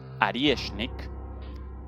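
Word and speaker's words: Орешник: Esto un oreshnik, o bien pronunciado en ruso, arieshnik, avellano.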